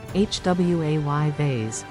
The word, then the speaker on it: jueves: It's pronounced, hwayves.